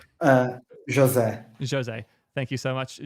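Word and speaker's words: José: The correct pronunciation? Jose. Jose. Thank you so much, Jose, for coming by and doing this awesome interview.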